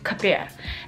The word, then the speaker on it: Khao Piak: It's called Khao Piak or Khao Piak, depends on however you want to pronounce it. But for us Hmong people, we just say Khao Piak.